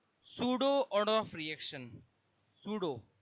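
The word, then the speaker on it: pseudo: सूडो पी इसका पी होता है। साइलेंट होता है।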